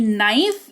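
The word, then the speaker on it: knife: एम्प्ट रखें लिखेंगे क्लियर तो के कब साइलेंट होगा किसी शब्द की शुरुआत के से होगी उसके जस्ट बाद एन आ जाएगा तो वहां पर के साइलेंट होगा जैसे कि नाइफ इसको के अगर यहां नहीं भी हो तो भी आप इसको नाइफ ही पढ़ोगे तो आप उसको वैसे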